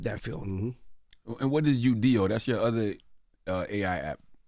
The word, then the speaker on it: Udio: And what is UDO? That's your other AI app. Am I pronouncing it right? Yeah, UDO.